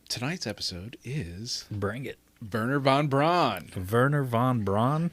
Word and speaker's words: Werner: his his entire name his burner which burner is spelled wer n h er Werner it's yeah but they they like yeah I get they rough up that w bad attempt at being